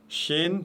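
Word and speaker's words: شين: Shin, toujours légère, aucune exception. C'est le CH de la langue française prononcé légèrement.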